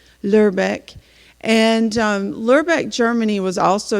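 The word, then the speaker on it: Lübeck: to say it correctly the Lu with the two dots you read like l-u-r in English lerbeck and lerbeck Germany was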